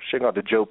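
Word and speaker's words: Cheikh Anta Diop: Look at Shekonta Diop, or Shekonta Diop is the correct way to pronounce his name.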